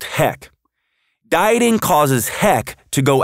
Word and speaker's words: HEC: energy and cravings or what i call hec pronounced heck dieting causes heck to